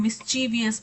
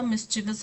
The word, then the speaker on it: mischievous: मिस्चिवस का मतलब होता है शरारती, और हम बोलते हिंदी में कई बार जब हम हिंदुस्तानी बोलते हैं तो हम मिस्चीवियस बोलते हैं, बट एक्चुअल में वो मिस्चीवियस नहीं होता, मिस्चिवस होता है।